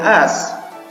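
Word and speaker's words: است: Alif sinta ini dibacanya as.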